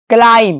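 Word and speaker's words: climb: क्लाइम।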